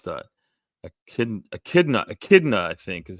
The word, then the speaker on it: echidna: Joe, you got the platypus in Echinda. I'm not sure how to pronounce that. Echidna, I think is how that's pronounced.